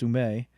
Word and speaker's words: Ouimet: Francis Ouimet, or proper pronunciation, Francis Ouimet, became a prominent businessman.